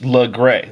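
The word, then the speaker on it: Laguerre: been pronouncing it wrong look cooler here it's pronounced look gray law gray I think this French I never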